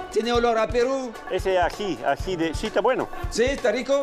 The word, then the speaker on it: ají: Ají, ají.